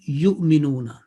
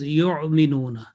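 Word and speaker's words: يؤمنون: What we hear that some will pronounce this Hamza not from the bottom of throat, but from the middle of throat. And when you pronounce from the middle of throat, there is this pointing bone, then it is yu'minuna, which is totally incorrect because we are pronouncing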